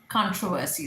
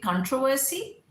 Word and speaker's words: controversy: So controversy is also right, controversy is also right. Britishers mainly say controversy and Americans say controversy. So controversy, equally acceptable.